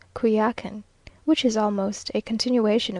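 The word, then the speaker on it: Coyoacán: in the morning to kakan now pronounced kuyakin which is almost a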